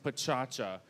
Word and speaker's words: Pecha Kucha: But actually, Pecha Kucha is from Tokyo, and it's pronounced pachacha, and it means chit-chat, or the actual sound of talking.